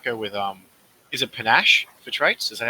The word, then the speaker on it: panache: cool i might go with um is it panache for traits is that how it's pronounced yes that's correct uh and empathy panache